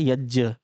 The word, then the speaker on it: यज्ञ: इसको ध्यान रखें, हम इसको उच्चारण, सही उच्चारण होता है यज्ञ। हम इसको बोल देते हैं यज्ञ। फिलहाल यज्ञ बोल रहे हो, आप यज्ञ बोल रहे हो, तो ये यज्ञ है।